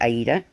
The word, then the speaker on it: Aida: is fluent in Italian so we know that the proper pronunciation is actually Aida but personally I don't